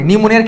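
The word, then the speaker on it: pneumonia: নিউমোনিয়া শব্দটা যখন পড়ি নিউমোনিয়ার ক্ষেত্রে আমার প্রথমে কি আসে পি শব্দটা আসে নিউমোনিয়া এন হওয়ার কথা বাট প্রথমেই আমরা পি টা আসে আমাদের আজকে লেকচারে আছে পি টা হচ্ছে আমার সাইলেন্ট লেটার সবাই কি বুঝছি ক্লিয়ার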